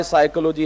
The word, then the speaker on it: psychology: my whole life that if p is not to be pronounced then why psychology has a p spelling doesn't need a p anyways I just started